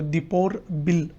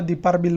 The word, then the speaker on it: Deepor Beel: आता मी तुम्हाला दीपार बिल म्हटलं होतं पण त्याचा खरा उच्चार आहे दीपोर बिल वाईल्डलाईफ सँक्च्युरी.